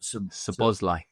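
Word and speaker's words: Szoboszlai: Forgive me for not being able to pronounce his lot. Sabosli.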